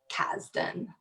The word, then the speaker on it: Kasdan: Rock the Kasbah captain spelled with an S but it sounds like a Z okay Kasdan what are you up